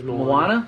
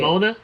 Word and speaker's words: Moana: he plays the oh is that how you say it yes moana yeah oh okay you call it mona yeah it's like [